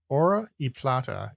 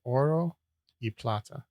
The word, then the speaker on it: Oro y plata: Ora y plata is the motto of what state? Wait, say it again. I'm not pronouncing it correctly because I don't speak Spanish, but it's oro y plata.